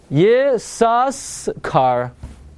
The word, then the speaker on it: Yissaschar: So if it's a shvanach, it's going to be Yissaschar. And therefore, you know how we know you don't pronounce it?